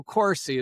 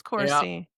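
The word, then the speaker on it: Corsi: It rhymes with horsey. So Corsy is fine. Cory. Corsy. Okay. It is coarsey.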